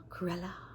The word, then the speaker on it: Cruella: No, let me say it like Emma Stone. Curella.